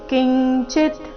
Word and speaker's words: ಕಿಂಚಿತ್: ರಸ್ವ ಬರಬೇಕು ಕರ್ಮಣ್ಯಭಿಪ್ರವೃತ್ತೋಪಿ ನೈವ ಕಿಂಚಿತ್ ನೈವ ಕಿಂಚಿತ್ ಅನುಸ್ವಾರದ ಉಚ್ಚಾರಣೆ ಇಲ್ಲಿ ಚ ವರ್ಗದ ಅನುನಾಸಿಕದ ರೀತಿ ಕಿಂಚಿತ್ ಕರೋತಿಸಹ ನೈವ ಕಿಂಚಿತ್ ಕರೋತಿಸಹ